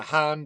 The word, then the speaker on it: Han: Look at the Tang Dynasty, spelled like the drink, pretty much, or the Han Dynasty, spelled like Han Solo.